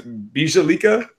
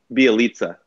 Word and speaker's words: Bielitsa: You're going to tell me I pronounce it like it's Bielika? Bielitsa. Yeah. There was an extra consonant sound in there I was missing.